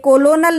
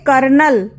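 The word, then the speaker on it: colonel: एल ओ an initial लेकिन उच्चारण इसका गलत है यह कॉलोनल नहीं पढ़ा जाएगा इसे कहेंगे कर्नल और यह भी उसी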